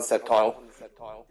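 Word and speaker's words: Sceptile: and wrong it's grile doesn't evolve in the septile oh so I pronounced it right then okay so since the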